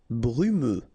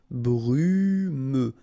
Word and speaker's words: brumeux: Brumeux. Okay, final X not pronounced, so you get this E and then U. Brumeux. Brumeux.